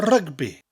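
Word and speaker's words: rygbi: rugby twin javi rugby rugby in English and Welsh are very similar but the worst version has a role in our or and you emphasize the syllable slightly more a rugby a rugby so saying I like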